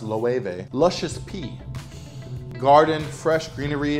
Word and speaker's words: Loewe: Yes, it's pronounced Loewe.